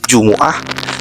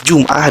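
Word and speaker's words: جمعة: digunakan sebagai istilah hari maka memiliki tiga cara baca pertama kita bisa membacanya dengan kata Jumuah kedua jumah dan ketiga jumaah namun ketika kata Jumat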